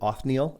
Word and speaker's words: Othniel: Verse 7, we start with, is it Othniel? Is that how you pronounce it? Othniel, yes. Othniel.